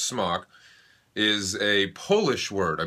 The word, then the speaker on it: SMOK: fans who pointed out that smock it is pronounced smock is a polish word i believe it's polish